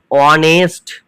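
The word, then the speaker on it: honest: ওদিয়ে দেখো কি হচ্ছে অনেস্ট তাহলে অনেস্ট মানে কিন্তু এখানে এইচটার উচ্চারণ হচ্ছে না এইটা নামে মাত্র আছে প্রথমে কিন্তু এটা উজ হয়ে আছে মানে সাইলেন্ট হিসেবে আছে যখন কোন লেটারের উচ্চারণ হয় না তখন সেই লেটারটাকে বলা হয় সাইলেন্ট লেটার বলা হয় এখানে কিন্তু এইচ মডেল মাত্র আছে নামে মাত্র আছে কিন্তু এইচ এর উচ্চারণটা হচ্ছে না তাই এইচটা হচ্ছে সাইলেন্ট লেটার তারপর থেকে দেখো ও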